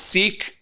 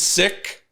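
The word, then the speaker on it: Sikh: While sick communities often referred to or pronounced sik, but the actual pronunciation is sick.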